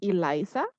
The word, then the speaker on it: Elisa: afternoon all um so the best way to pronounce my name is eliza elisa okay yes i'm